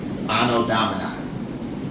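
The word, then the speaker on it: Anno Domini: So we're in 2024 A, which is actually uh it stands for um ano uh domini. That's how you pronounce that. Um uh anodomina is what AD stands for.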